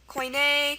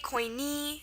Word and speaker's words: koine: Think this one might be koine, koini. See here, there's two pronunciations. It's from Greek, koini. See, that's why it ends in an e.